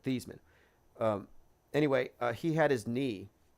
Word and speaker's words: Theismann: Like, do you remember the thing about Joe Theismann and his name spelled like it sounds like Theismann, but Theismann.